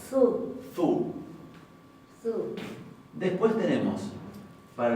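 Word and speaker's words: þú: Se va a pronunciar, habíamos dicho, la thot como una teta suave. Su.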